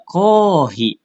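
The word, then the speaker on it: コーヒー: Contohnya kalau bahasa Inggris ada kofi, tapi kalau di bahasa Jepang dia kohi ya itu adalah serapan dari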